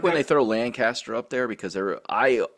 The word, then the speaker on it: Lancaster: You know, that's I like when they throw Lancaster up there because there I I have always thrown a G in that word. I don't know why. I always say Lancaster, but it's Lancaster.